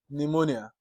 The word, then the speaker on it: pneumonia: evening then you have letter P silent in Psychology in s in pneumonia this class we've looked